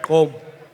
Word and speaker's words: Gqom: say it right, Gqom. It's called. Did you call it druggy music? Yeah, Did you just call Ah. Gqom druggy music? Hip hop is druggy music. But anyway, I don't see Gqom guys pouring Benylin into a Sprite.